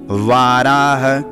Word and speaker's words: वाराह: दे श्री श्वेत वाराह व में आकार है यानी इसमें दीर्घ का उच्चारण होगा यानी कि थोड़ा इसमें समय देना है वाराह कल्पे वैवस्वत मनवचा त